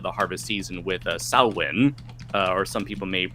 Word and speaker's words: Samhain: the end of the harvest season with uh sauwen uh or some people may mispronounce it as sam hein samhain even um and so over time this